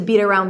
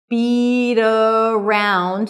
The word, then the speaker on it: beat around: So to beat around the bush. And the pronunciation is beat around. So we have a flap T there, beat around, beat around.